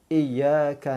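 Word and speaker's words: إِيَّاكَ: Ma'ruf dan menyebarkan bacanya bertasydid yang ada sabdu kena lahirkan iyyaka na'budu wa iyyaka nasta'in contohnya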